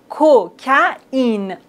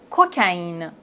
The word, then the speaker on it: cocaïne: autre exemple coca in vous voyez on doit prononcer le a et le i séparément cocaïne cocaïne naïf Noël Raphaël héroïne